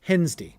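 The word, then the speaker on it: Hevensday: day, high day, and heaven's day was universally pronounced hens and often written hence day h e apostrophe n s d a y.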